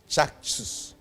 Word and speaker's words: Caksus: Because Sanskrit C no obe pronounce it as CH in English. As all kinds of Charles and so Caksus.